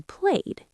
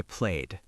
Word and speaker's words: played: James did not say walk or play. He said walked and played. Yes, that D or T sound is right at the end of the word.